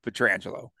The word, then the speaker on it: Pietrangelo: All national broadcasts mispronouncing Alex Pietrangelo. No, I just made that up, but Pietrangelo.